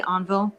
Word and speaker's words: Envol: How do you actually say it? I say Envol. You say it right, Envol. Okay, because I actually Googled how to say this in French, and that's so I was like Envol. I think that's how you say it, not Envol. Envol.